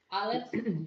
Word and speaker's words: Aleph: The next one is Aleph, which is silent, and that the next letter is Sheen, shine, Resh, raisin, and Yod, yellow.